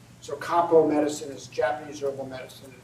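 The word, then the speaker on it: 漢方: That Chinese Hanfang in Japanese is pronounced Kampo. So Kampo medicine is Japanese herbal medicine.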